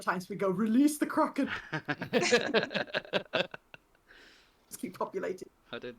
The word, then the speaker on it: Kraken: Just Kraken. Like the Kraken.